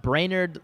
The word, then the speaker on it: Brainard: My last name is spelled brainer. Brain like the one in your head. A R D.